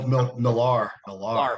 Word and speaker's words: Millar: Neil Gaiman or Mark Miller, somebody like that writes. Millar. My bad. I know. I've mispronounced it every single time because I see it written.